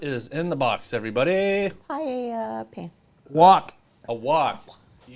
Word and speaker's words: paella: Fajitas, wok, paella pan. The answer will be... It is a paella pan. No. How come the L is silent? Shouldn't it be paella?